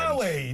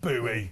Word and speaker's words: Bowie: Bowie, not Buoie.